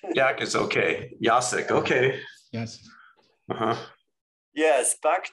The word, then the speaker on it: Jacek: Jacek. If you want to pronounce my Polish first name, is Jacek.